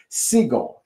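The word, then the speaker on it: Sigle: the fact that again his name is pronounced seagull.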